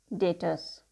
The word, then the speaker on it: debtors: Here the term B will be silent. We pronunciate it debtors.